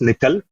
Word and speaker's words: NCCL: So, NC LCCL we generally pronounce as nickel which is a library